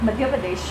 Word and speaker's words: मध्य प्रदेश: मध्य प्रदेश। मध्य प्रदेश। मध्य प्रदेश। मैंने सही से प्रोनाउंस सुना था, एक मिनट।